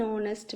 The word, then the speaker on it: honest: Some words begin with a silent So we use an before them. He is an honest man. He is an heir to the throne. I met him an hour ago. H silent.